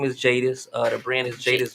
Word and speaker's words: Jadus: are my name is jadis uh the brand is jaden's justice apparel um basically the the the actual name the actual name stemmed up from my name which is jadis which is spelled j-a-d-u-s but the u.s is